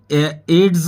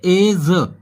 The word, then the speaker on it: edge: जैसे कि एज, यानी कि एड्स नहीं बोलेंगे इसको, इसको बोलेंगे एज।